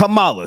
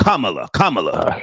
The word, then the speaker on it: Kamala: Kamala, so that's how you say her name. Right. Excuse Kamala.